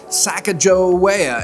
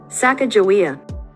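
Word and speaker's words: Sacagawea: minute of the conversation I Googled pronounce saaka joa I was totally wrong saaka jaia get completely convinced I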